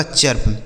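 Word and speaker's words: chirp: से प हो गया, यह लिखा गया आपका चर्प।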